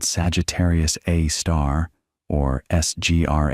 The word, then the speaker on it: Sagittarius A*: our galaxy, called Sagittarius A* or Sgr A* for short, that little star is pronounced A*, might be large enough